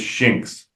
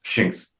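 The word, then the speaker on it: Shinx: His name is Shins. Sh I NX. Shins. Okay. I couldn't pronounce it.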